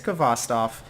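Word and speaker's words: Khvostov: the kvass stuff that everyone has a different way to pronounce this gun I looked it up on google I think it's kvass Tov that was that's a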